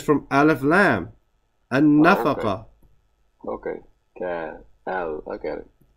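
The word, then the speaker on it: النفقة: No, it's noon. Has a shad. The noon is a sun letter, akhi. What's that lamb there? Okay, it's from Aleph Lam. An-nafaqa.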